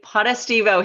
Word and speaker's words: Potestivo: welcome back to 90s obscurity i have potta stevo here did i say it right you nailed